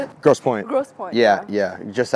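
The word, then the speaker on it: Grosse Pointe: like green green how do you say it gross point Gross Point yeah yeah just outside Detroit like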